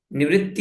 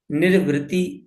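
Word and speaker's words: निर्वृति: आनंद है ना और इसका उच्चारण करते वक्त आप ध्यान रखिए निवत्त नहीं है ये निरवत्त ऐसा शब्द है ठीक है तो निरवतय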